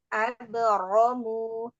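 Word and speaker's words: أبرموا: Nanti pengucapan rok fathah itu lebih terangkat lagi. Abro gitu. Abromu.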